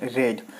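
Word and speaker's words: read: Third form यानी कि रेड। यहाँ पे आपको लिखना रीड ही है लेकिन इसे प्रोनाउंस करना होगा रेड।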